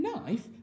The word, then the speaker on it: knife: is i knife and in knife i've got a long vowel sound haven't i because i've got an iron e working together to make an i sound in our split diagram